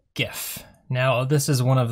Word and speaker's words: GIF: But there's a lot of contention as to how to say this word. The creator of the GIF says that it's the GIF. However, it is hard G, so I'm going to roll with GIF.